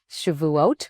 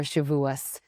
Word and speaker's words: Shavuot: That is our subject today, the holiday of Shavuot or Shavuos, depending upon which pronunciation. Both are correct.